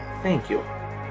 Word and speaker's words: thank you: Olha só, colocou a língua entre os dentes. Aqui. E vou falar. Thank you.